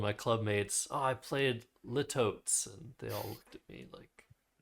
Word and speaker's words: litotes: litotes Indeed it is. Litotes is a correct pronunciation.